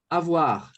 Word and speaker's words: avoir: Avoir. Opa, bateu o olho. Se tem o I na palavra, automaticamente o som ali, a pronúncia já vai ficar assim, ó. Som de UA.